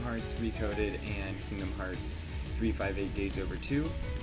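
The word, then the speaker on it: 358/2 Days: The 2DS games, Recoded, Kingdom Hearts Recoded, and Kingdom Hearts 358 Days Over 2. Do not correct me, that is how you say it.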